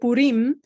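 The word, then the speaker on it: Purim: would have called it Pim the um the emphasis falls on the last syllable right it's um versus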